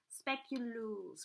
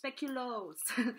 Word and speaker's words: speculoos: speculoos butter comes from the Netherlands so it's speculoos we should speculoos also that's how you pronounce it then we have I put another